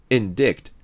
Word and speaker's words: indict: Even if you learn the rules, you can't pronounce this word as /ɪndaɪt/. It becomes something like /ɪndɪkt/. You have no choice but to memorize it word by word.